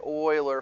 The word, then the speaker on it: Euler: might be like euler how do you get euler from e well the guy's name is actually